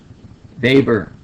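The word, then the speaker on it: Weber: we stain so yeah here's the interesting thing about Germans and the pronunciations of W's and B's it's backwards and I only learned that when I started out as a first year student at University studying sociology and my introductory sociology Professor Dr David knock explained that pronunciation to me so we say vber and we say Wain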